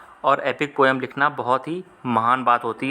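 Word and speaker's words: Homer: तो सही जवाब है हो मां ऑप्शन नंबर सीएसयू जाएगा होमा इसमें आर जो है वह साइलेंट है इसलिए इसको होना पड़ा जाता है हैं इन्होंने क्या लिखा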